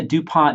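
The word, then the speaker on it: du Pont: Hey, is this the same DuPont that makes the model airplane glue? It is pronounced DuPont. It is named after Helios Irene DuPont.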